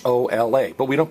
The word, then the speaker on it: hola: we don't pronounce it whole out we're in a whole lot of trouble how do you pronounce H Ola everybody Ola right so the letter H is always silent and you also if